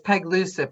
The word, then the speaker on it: Pagluica: Um, did we get a pronouncer? Pagluica. It's Pagluica.